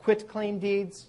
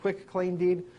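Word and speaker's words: quitclaim deed: There's a thing investors hear about quit claim deeds sometimes mis mispronounced quick claim deed. It's quit like I quit my job claim deed. Quit.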